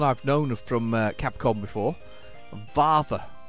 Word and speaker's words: Varth: Varth, like Darth. No, Varth, like Darth. Varth. Can't pronounce it anyway.